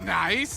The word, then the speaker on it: NAIC: here am beyond excited of course niic is pronounced nice and that's exactly what I will be saying